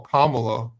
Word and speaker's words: Kamala: Kamala I know it's Kamala but whatever the reason why they went in mamala is you could say Kamala right that was it because Kamala rhymes with malamala that was the reason